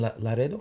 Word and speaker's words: Laredo: So let's go back to your life in Laredo.